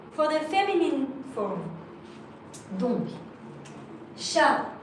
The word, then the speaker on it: chat: Donc, chat with a T, you write it, you don't pronounce it.